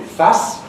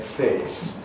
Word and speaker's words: face: The modern French pronunciation of that would be face.